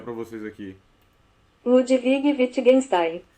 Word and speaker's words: Wittgenstein: Vou pronunciar para vocês aqui. Ludwig Wittgenstein. Wittgenstein.